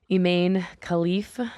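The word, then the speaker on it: Imane Khelif: talking about it but eain khif is how you pronounce um her name she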